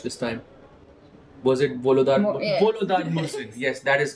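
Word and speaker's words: Volodar Murzin: Wait, which correct pronunciation did I watch this time? Was it Volodar? Volodar Mursin.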